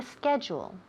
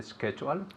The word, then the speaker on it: schedule: Okay, ask me if I copied down the schedule. Did you copy down the schedule? Excellent. Very good. Yes, I copied down the schedule.